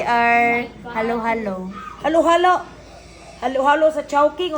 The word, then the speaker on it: Chowking: Halo-halo sa chowking o halo-halo sa manginasal? Basta. Unsay tama nga pag-pronounce sa chowking o shoking? Chowking.